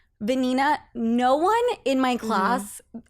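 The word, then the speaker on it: Vanina: actually a fun fact my middle name is venina which is a very Spanish name okay and it's spelled v a n i n a and I'm like a Sophia rhymes with venina right and then my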